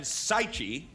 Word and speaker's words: Sichi: me I have sichi rhymes with Tai Chi she has just survived